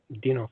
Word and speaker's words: Dinov: Am I pronouncing that correctly? Yeah, Dinov, yeah.